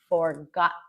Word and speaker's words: forgotten: But the real way that native speakers would often pronounce this is saying forgotten.